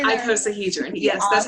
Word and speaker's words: icosahedron: Icosahedron.